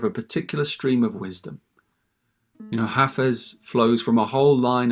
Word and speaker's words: Hafez: And by the way, you pronounce it Hafez, not Hafiz, as I sometimes mistakenly say it.